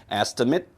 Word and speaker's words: estimate: estimate 아니고 estimate 된다고 말씀드렸죠. 자, 왜? 동사라면은 ate가 되지만 명사, 형용사, 부사라면 발음이 it가 된다.